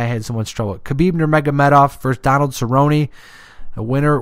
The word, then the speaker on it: Khabib Nurmagomedov: Khabib Nurmagomedov. That's how you say it. I don't know why I had so much trouble. Khabib Nurmagomedov versus Donald Cerrone.